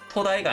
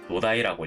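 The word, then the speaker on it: 土台: 토대도 토다이가 아니라 노다이라고 읽어요.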